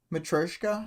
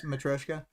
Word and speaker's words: Matryoshka: I've always heard it without the Y being pronounced very much. But like Mm-hmm. Matryoshka, I think is like my really bad American accent version of saying it is Matryoshka.